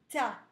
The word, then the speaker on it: tas: Des tas, attention, le S, il est grisé, on ne le prononce pas.